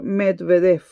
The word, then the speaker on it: Medvedev: Y entonces en 2008 decide apoyar la candidatura de un joven colaborador de él, Dimitri Metved, nunca he sabido cómo pronunciarlo. Medvedev.